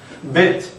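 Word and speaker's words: בית: 이 점에 대해서는 다 나중에 배우겠지만 점이 찍혀있는 벨트는 우리말 비읍하고 같이 발음하시면 됩니다. 브라고 발음하시지만 점이 없을 때는 순경은 비읍처럼 발음하면 브 이렇게. 네. bet.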